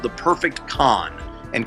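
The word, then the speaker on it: Khan: One thing is, I'm working on a movie called The Perfect Con, and Con is spelled K-H-A-N.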